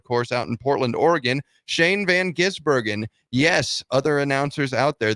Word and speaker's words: Shane van Gisbergen: Raceway a road course out in Portland Oregon Shane Van gisbergen yes other announcers out there that's how you pronounce it Shane Van giz Bergen picked up the win in the exfinity series